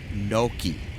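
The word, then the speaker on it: gnocchi: I had a saffron noki. Oh, wow. Do you know what a noki is? That's spelled G N O.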